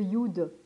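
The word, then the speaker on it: יוד: Ensuite, vous avez le Yud qu'on marque Yod, mais c'est Yud parce qu'en fait, si vous voulez, ou ça existe, c'est compliqué en fait à marquer. Donc du coup, on met Yod, mais c'est Yud, on prononce Yud en hébreu.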